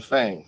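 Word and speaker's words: FAANG: so you invest in fang fang f-a-a-n-g f-a-a-n-g yeah i said it right bang f-a-a-n-g facebook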